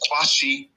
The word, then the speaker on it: Qshan: name isi this is the Q of my name s h n from the suffix of